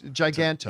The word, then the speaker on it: Giganto: villain on the cover called, how did you pronounce it? Giganto. Giganto. Yeah. I always say Giganto, but you were probably right. It's Giganto.